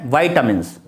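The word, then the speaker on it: vitamins: विटामिन्स को हम बोलते हैं, इसका सही प्रोनाउंसिएशन है वाइटामिन्स।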